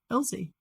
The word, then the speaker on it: Ilse: It's German. Ilse is, I had to YouTube how to pronounce it, but. Well, then there you go. Elsie.